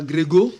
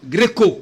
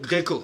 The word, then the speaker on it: Gréco: Oui, voilà, merci à José Kimonyo, Montabazi, merci à Anne Gréco, ce n'est pas Grégo, Non. Gréco, Gréco. comme la Grèce antique par exemple.